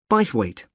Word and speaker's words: Bythwaite: held in bythwaite Hall sorry how do you spell that b y t h w a i t e bite weight is it easy to find I'm not very